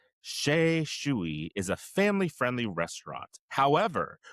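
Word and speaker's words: Xu: So, the restaurant is called Sha Shuy and that's spelled X U.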